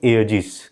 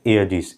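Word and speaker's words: aegis: तो अब यहां पर ए इ मैंने दो वोवेल्स को जोड़ दिया तो ए इसको बोलेंगे। अब कोई ऐसा आप स्पेलिंग बनाइए जो ए आना चाहिए। तो देखिए आ गया ए इ आया हुआ है तो इसको बोलेंगे एजिस।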